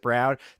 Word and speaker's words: Braun: Um but Ugo's just got it dude and like Christian Braun Brown however Braun but he pronounces it Brown.